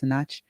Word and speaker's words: Sinach: I think her name is pronounced Sinach.